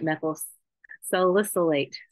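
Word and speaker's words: methyl salicylate: contain both over 95% methyl silicate silicate that's how you say it methyl solicite is commonly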